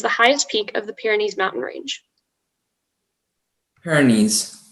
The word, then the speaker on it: Pyrenees: 61 your word is pyrenees um may i have all the information so pyrenees that's the only pronunciation noun french geographical name